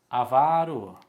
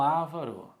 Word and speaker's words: avaro: mas linguagem coloquial né ele é avaro o avaro e não avaro e depois quem pratica